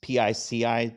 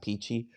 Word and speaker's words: pici: and tried the Pici, it's Pici, just pronounce it Pici, pasta. And for lunch, we went down there for lunch. We had peachy pasta, and then I